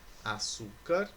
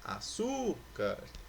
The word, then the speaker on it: açúcar: São as palavras açúcar e mesa. Olha lá, açúcar, mesa.